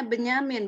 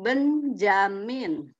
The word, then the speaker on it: Benyamin: lama itu nak ya jadi membacanya Benyamin bukan Benjamin tadi Nadila mengucapkannya Benjamin Benyamin Benyamin elu menggunakan masih